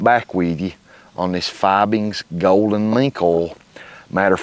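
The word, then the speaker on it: Fiebing's: And I'm going to be using this Fibings, I guess is how you say it, F-I-E-B-I-N-G-S, Fibings Golden Mink Oil.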